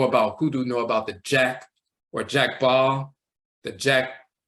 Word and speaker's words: Dja: In Ivory Coast, they just say ja, and they'll spell it DJA, but either way it's ja and so forth.